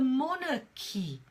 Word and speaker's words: monarchy: more na ki so what's the sound the sound is more no P so if you look at it written as in the International pronunciation Alfa phonetic alphabet sorry then you kids pronounce it more Nicky look at that sound again that schwa sound monarchy monarchy monarchy so